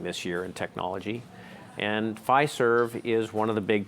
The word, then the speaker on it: Fiserv: Now, moving along to the other one here, Fiserv, how to pronounce it? Fiserv. Fiserv.